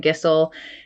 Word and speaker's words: Gisel: blessed to have brian gissell an easy way to remember how to pronounce his last name he said rhymes with whistle we love that in